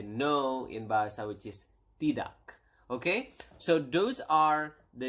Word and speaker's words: tidak: Yes is ya, and then no is tidak.